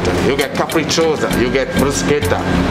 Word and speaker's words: bruschetta: get capricciosa, you get bruschetta, which is not bruschetta. Bruschetta. Bruschetta. Right. Italian pronunciation.